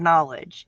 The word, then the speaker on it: knowledge: You know the word knowledge is me you know you don't see the K again.